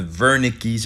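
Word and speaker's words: Wernicke: language and speaking and you have the Verna keys areas as in Bill hem Bunte pronouncing that w as a V the Verna keys area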